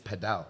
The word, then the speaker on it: padel: It's like oh no it's a paddle. Oh it's padal right. No the right pronunciation is padal.